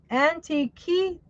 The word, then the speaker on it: Antikythera: And Antique, antique, Antikythera.